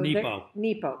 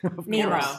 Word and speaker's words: Nepo: So Nepo. Mark Nepo. Did I say it wrong? Nemo. I said Nemo.